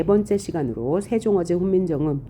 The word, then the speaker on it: 세종어제: 그러니까 우리가 읽을 때는 싱종엉쟁이라고 하면 안 되고 세종어제 훈민정음이라고 읽어야 한다.